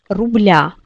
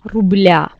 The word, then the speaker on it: рубля: Si vous vous souvenez, donc avec l'âge, on dit 2, 3, 4 рубля. Donc, il faut décliner ici. Le signe mouillé devient ya, рубля. Et on change l'accent tonique sur ya.